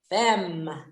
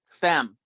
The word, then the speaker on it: femme: you and i have to tell you it's pronounced soulful femme femme okay yeah french word for women yeah exactly